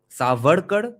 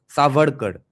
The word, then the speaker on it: Savarkar: Va and wa, That's the difference. WA versus VA. Savarkar, that's what we usually pronounce because we see it written as SAV. I have always pronounced it as Savarkar. Now I find out it's actually Savarkar.